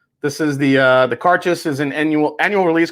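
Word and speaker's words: Cairdeas: this the laphroaig cart i think it's pronounced karchus i think that's how you say it this is the uh the cartes is an annual annual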